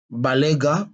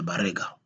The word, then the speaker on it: Balega: le kirer kabila kabira balega bare nous ne sommes pas des barega nous sommes des balega balouba barou Ra il